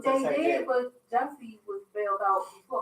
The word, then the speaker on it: Jussie: I didn't say Juicy. I said Jussie.